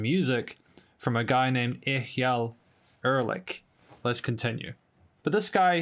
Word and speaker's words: Eyal Erlich: in the original cut of this review, I mispronounced this guy's name. Apparently, I have been told it's Eyal Erlich. So I'm going to be listening to some music from a guy named Eyal Erlich.